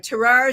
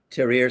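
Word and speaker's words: Tahrir: Terrar Square for the Arab Spring. Ter Square.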